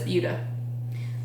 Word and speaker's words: Buda: Buda. Looks like Buddha, but it's Buda.